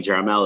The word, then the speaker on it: Jaramillo: south america right um how to is how you say my last name but j or jerimel is just easier um and it's